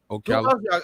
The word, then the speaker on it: Ocala: Ocala.